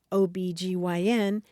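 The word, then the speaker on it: OB-GYN: initialism right right yeah the initialism where you say just the letters and an acronym where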